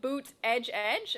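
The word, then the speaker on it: Buttigieg: right he put in parentheses how to pronounce it and put boot edge edge and i'm like that can't be right that is right it's actually uh what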